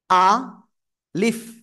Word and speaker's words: ألف: আ leaf, নিচের ঠোঁটের পেট উপরের 2 দাঁতের আগার সঙ্গে লাগাবেন, লাগিয়ে আপনাকে উচ্চারণ করতে হবে। আলিফ, হালকা বাতাস বের হবে।